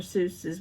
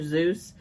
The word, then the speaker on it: Seuss: Seuss's, which actually it's Dr. Zeus. But look that up because it's not pronounced Seuss. It's actually Zeus, and I actually looked that up and I confirmed that.